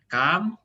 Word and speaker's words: काम: Itu bacanya kam ya, dianya bukan kem ya. Kam. Kalau kem soalnya ada lagi. Kalau kem itu artinya sedikit. Kalau Hindi itu kem sedikit ya. Tapi kalau bekerja itu kam karena.